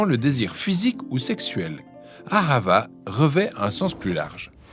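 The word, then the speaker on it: אהבה: On le prononce ahava.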